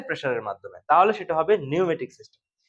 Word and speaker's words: pneumatic: মাধ্যমে তাহলে সেটা হবে নিউমেটিক সিস্টেম নিউমেটিকের স্পেলিংটা শুরুতে পি দিয়ে আসবে হ্যাঁ পিনিওমেটিক বানানটা হবে স্পেলিংটা হবে পি নিউমেটিক কিন্তু আপনার বলবো হচ্ছে নিউমেটিক সিস্টেম তো নিউমেটিক সিস্টেমটা